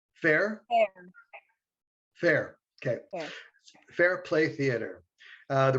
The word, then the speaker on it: Ferre: Did I pronounce that correctly? Fair? Fair.